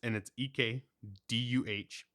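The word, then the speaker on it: Ecdysis: Did you listen to the pronunciation? Yes. It's EKDUHSUS. What does it mean? No, that's how you pronounce it.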